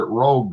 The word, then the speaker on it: Rouge: Yeah, we pronounce it rogue though, but yeah.